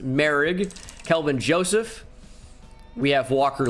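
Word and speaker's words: Moehrig: It looks like Morig, but it's pronounced Merrig.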